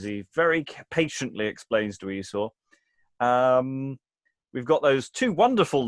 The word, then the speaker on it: Esau: We can go back to butts later, but the rhyme of Esau and now. So I guess it's pronounced Esau rather than Esau.